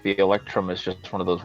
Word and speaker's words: electrum: How do you pronounce that? What? You have silver, something, gold, and it's EP. Oh, Electrum. Electrum.